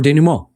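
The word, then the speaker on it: dénouement: These acts that we've described that need to happen are denouement, right? They're see, that's how you pronounce it.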